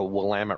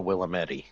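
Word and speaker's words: Willamette: And we have the Wamtt River, not the Willamedi regardless.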